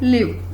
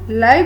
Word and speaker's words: live: Next is LIVE, जिसे हम usually बोलते हैं लिव, और इसका मीनिंग है रिजाइड, यानी रहना. और इसकी स्पेलिंग की प्रोनाउंसिएशन लाइव भी होती है.